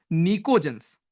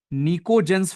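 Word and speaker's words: pnictogens: 15 जिसमें नाइट्रोजन है उसको बोलते हैं हम निको जनस उसकी स्पेलिंग होती है पी से शुरू निको जेंस फैमिली निको जनस फैमिली जिसमें यू विल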